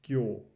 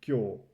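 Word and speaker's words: 今日: It's just kyo, right? That's how you read this whole thing, kyo.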